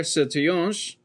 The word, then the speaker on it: Sertillanges: Dominican Father Antonin Gilbert Sertillonge. And it looks like it's spelled Sertillanges, but that is not how it's spelled.